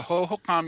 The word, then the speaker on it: Hohokam: Is that how you pronounce that? The Hohokam, yeah.